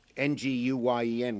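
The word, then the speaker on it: Nguyễn: Because Nguyen in Vietnamese is Nguyen, which is a very common name, is pronounced Nguyen.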